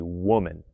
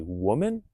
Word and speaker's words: woman: The pronunciation of women versus a woman. Notice a woman or women. Pay attention to those differences.